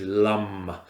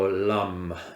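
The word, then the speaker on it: Lam: this element which is Lum so Lum it's it's spelled l a m but pronounced Lum like this now I'll chant it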